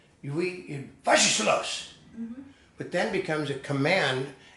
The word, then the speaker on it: Was ist los: You'd say something like, "Was ist los?" which is simply, "What is this?" And then they'd say, "No, that's not how you say it. Was ist los?"